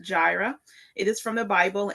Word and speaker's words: Jireh: My husband Emanuel Jarvis and so we started Gyra Family Farm is pronounced Gyra.